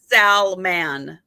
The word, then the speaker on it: Salmon: But and his first name is Salmon, like the fish. Salmon, like Salman. Okay. So instead of like okay, yeah. Not like so salmon, but salmon, like actually pronouncing salmon without the E, right? like a salman.